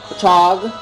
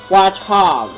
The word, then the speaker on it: Watchog: So I really like how it's sounded the way I said it, Botchog. So it sounds like I'm saying, what chog, but saying it a lot faster, Botchog. But still. But it really, it actually is pronounced, Watchog. Actually, Watchog. So it sounds like I'm saying it a lot faster, but it's really pronounced Watchog.